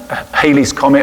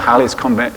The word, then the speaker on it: Halley's Comet: And there's some thoughts that the star may have been Halley's Comet, or Halley's Comet, some people pronounce it, which appeared about 12 BC.